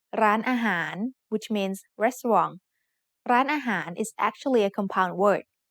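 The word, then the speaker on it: ร้านอาหาร: The first syllable has the initial low-class consonant r อ เ ร ื อ with my-to added above it to give it a high tone. The second syllable is a mid-tone, and the last syllable is a rising tone, han, that starts with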